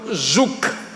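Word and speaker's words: Zuck: que se llama interpretación bíblica básica del doctor zuk zuk se escribe Z u c K este hermano hace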